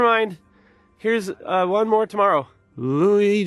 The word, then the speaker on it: Louis: Louis Jordan is up next. It's spelled Lewis, but don't be fooled.